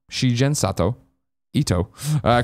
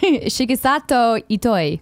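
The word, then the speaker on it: Shigesato Itoi: passed away in 2015 a similar interview with shi-gen Sato Ito I creator of earthbound in fact what totally it's okay no say it right Shiki Sato eat I thank you the creator of earthbound and founder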